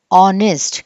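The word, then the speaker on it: honest: Seventh rule, the letter H is silent when it comes before the letter O. O ముందు H వస్తే ఈ H అనేది మనకి పలకకూడదు. This is R, this is ఆనెస్ట్.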